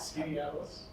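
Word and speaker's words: Skaneateles: Warren, how do you pronounce that? Skinny Atlas.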